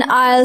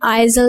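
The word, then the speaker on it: aisle: डू you want an आयल seat और window seat? अब इसमें आयल जो है इसमें एस साइलेंट है, इसमें हम आइजल नहीं पढ़ेंगे इसको।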